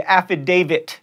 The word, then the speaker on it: affidavit: triathlon asterisk not axtrix and affidavit there's a t at the end they're not a d if you're chuckling that